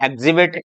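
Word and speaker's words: exhibit: एक्स के बाद में एच साइलेंट है, एग्जिबिट, एग्जॉस्टेड। डब्ल्यू के बाद में एच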